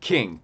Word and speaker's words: Qing: That's the Qing Dynasty. Q-I-N-G. King.